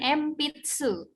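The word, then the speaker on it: 鉛筆: Tadi N kalau di akhir kan jadi eng. Kalau ini dia bertemu di tengah gitu kan. Jadi bacanya bukan N tapi mirip-mirip M gitu. Jadi empitsu.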